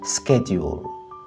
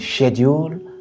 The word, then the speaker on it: schedule: tu parles l'anglais américain tu diras schedule schedule les Britanniques disent schedule alors que les Américains disent schedule et les deux sont correctes à toi de choisir notre 8e mot vient de s'afficher